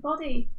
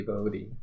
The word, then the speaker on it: Bodhi: Oh, they say it like body. Hey, I gotcha. Thank you, Aline, for being kind. Oh, people say like body, but it's actually Bodhi.